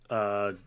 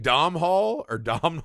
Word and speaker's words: Domhnall: I believe you're supposed to pronounce it Domal. Because I've been saying Domhnall for a long time.